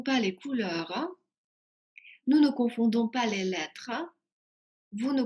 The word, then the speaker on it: confondons: Обращаю ваше внимание, как и в предыдущих глаголах, здесь во множественном числе «d» произносится, а в единственном нет. То есть «confondons», «confondez», «confondent». И voilà.